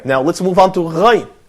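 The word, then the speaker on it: غين: Now let's move on to Ghain. Ghain. So say Kha. Kha. Ghain. Ghain. Reverse it. So Ghain. Ghain. Ghain. Okay. Well, this letter is pronounced using the same muscles similar to the fashion Gharib.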